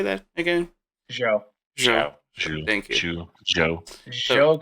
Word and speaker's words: Zhou: We have Leclerc DNF on that one, and Zhu. How do you say that again? Zhou.